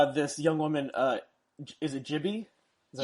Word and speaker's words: Gibi: Is it Gibi? Is that how you pronounce GB. it? Gibi, Yeah.